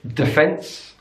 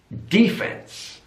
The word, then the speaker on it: defence: cup on the first another stress difference in British English defense defense so it's on the second syllable defence in American English defense defense so it's on the first syllable and that D is really pronounced defense so British English defense